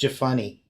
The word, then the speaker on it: Jephunneh: pronounced Jephunneh.